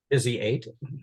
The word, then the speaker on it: Visi8: So you recently joined Visi8. Is that, am I pronouncing it correctly? Visi8.